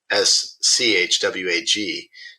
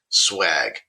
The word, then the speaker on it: swag: swag sometimes also spelled s-c-h-w-a-g dates back to the 1960s and was described to use promotion for promotional items so it's it's it is spelled the other way but the pronunciation is swag so Chris you were